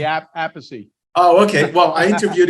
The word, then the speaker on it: Appice: up your alley with me today is vinnie apiece the drummer of many black sabbath albums and